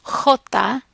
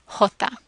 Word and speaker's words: jota: And the J, the J, is pronounced similar to the English H. One difference is that it's often a harsher sound. It's pronounced back in the back of the throat, and it's a harsher sound than the English H. So, for example, the name of the letter is pronounced Jota rather than Jota.